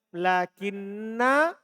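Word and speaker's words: لكنّا: Jadi asalnya lakin ana. Dihilangkan hamzahnya supaya ringan diucapkan. Jadi hilang hamzahnya jadinya apa? Lakin na. Kan gitu, hilang hamzah. Jadilah apa? Lakin na. Kemudian bertemu dua huruf sejenis. Yaitu nun dengan nun. Maka diidgham. Digabunglah.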